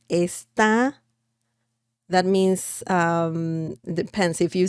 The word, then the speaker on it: está: It's a slightly different pronunciation, actually. Esta, this, está.